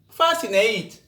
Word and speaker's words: fascinate: to the letter c the letter c is silent in the combination s c also before the letter k o q example muscle fascinate acknowledge acquit in these